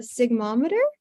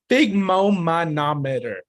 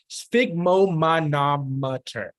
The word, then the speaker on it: sphygmomanometer: I think it's pronounced sphygmomanometer. Sphygmomanometer. Good. That's really good. Great job. Does someone else want to try and attempt to say it? Alexis? I think it's pronounced sigmometer. It's sphygmomanometer.